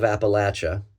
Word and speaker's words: Appalachia: I was born a bastard out of Appalachia, which by the way is the cor correct pronunciation in 1968.